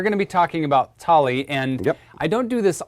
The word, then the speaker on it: Thali: It's pronounced tally.